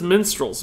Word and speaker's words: minstrel: me that he says minstrels what what that's how you say the word minstrel what you guys want